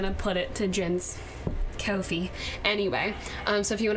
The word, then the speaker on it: Ko-fi: Is that how you say it? Coffee-fee? Cough line? Coffee? Yeah, Kofi. Kofi.